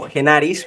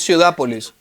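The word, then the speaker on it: Ciudápolis: que se conoce como genis corrígeme si lo pronuncié de forma correcta es ciudapolis ciudapolis Es ciudapolis ciudapolis okay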